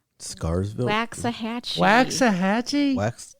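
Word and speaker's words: Waxahachie: how do you say that Town's name Scarville wax a Hatchy wax a Hatchy wax it's 93 miles I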